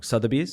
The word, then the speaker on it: Sotheby's: Sotheby's yes am I pronouncing it I always pronouncing wrong Sotheby's yes okay so you start off with Sotheby's